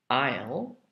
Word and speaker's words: aisle: now we do the silent s aisle is spelled in this case a i s l e and island is i s l a n d isle is for example